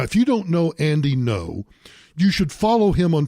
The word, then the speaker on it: Ngo: Anyway, back on Saturday, it was allegedly right-wing journalist Andy Ngo. Now, if you don't know Andy Ngo, you should follow him on Twitter at Andy, and his last name is spelled NGO, just like non-government organization.